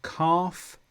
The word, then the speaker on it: calf: And last one, L before M. So calf, calm, salmon.